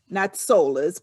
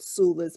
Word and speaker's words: Soulas: doula we came sula it's spelled s-o-u-l-a-s solas but sula's because it's connected to the word doula and so that's how